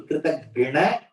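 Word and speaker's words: कृतघ्न: Kritagna. Just that pronunciation you have to be careful. Kritagnya is grateful. Kritagna is ungrateful.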